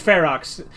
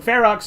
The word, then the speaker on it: Ferox: you go like maybe maybe it is pronounced ferox I just assumed because it was Latin my pronunciation was right but fairox makes sense too he always does that